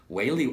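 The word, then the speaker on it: Waly: I've been calling it Wally Wally, but apparently it's Whaley.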